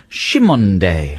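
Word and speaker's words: Cymande: apparently is called uh their name is pronounced shimonde shimonde now we don't know whether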